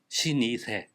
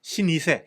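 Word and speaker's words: 老舗: 그 일본의 노포를 보통 신 이세라가 부르고요 시 시니세 시니세 예 그렇게 부르고 어 중국에서는 노자라고 부르고요 노자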